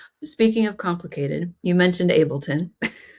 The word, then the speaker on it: Ableton: found online somewhere and it said I'm an Ableton certified trainer, but the way they pronounced it was Matt McCoy. I mean, they're not like a tech person at all. They were like Matt McCoy is an Abron certified trainer.